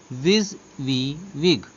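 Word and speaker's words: WYSIWYG: देखिए नाम से इसके मालूम पड़ रहा है, विजिविग is pronounced as विज वी विग एंड is acromion for what you सी is what you गेट।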